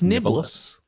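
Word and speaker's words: Niblis: Is that how you say it? It's Niblus. Oh, it's Niblus. L-I-S.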